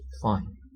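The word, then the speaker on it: phi: it's it's a Greek letter um and it's pronounced fine English we one way to write it is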